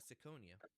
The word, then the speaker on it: Siconia: Today I have the president and foreign minister of Saconia. Am I pronouncing that right?